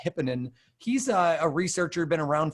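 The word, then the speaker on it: Hypponen: But Miko, I believe his last name is pronounced Hipponen.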